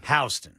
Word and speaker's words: Houston: Well, we had a we have a county in Georgia, Ken, that is H O T O N. That's Houston. Uh, in Georgia, it's Hston. Hston for some reason.